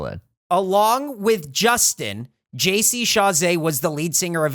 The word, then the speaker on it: Chasez: It is JC Chasez.